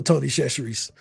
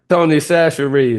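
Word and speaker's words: Tony Chachere: Y'all know that little uh y'all know Tony Shashes. Did I say it right? How you say it? Darren. Darren. That's Tony Sasher, man.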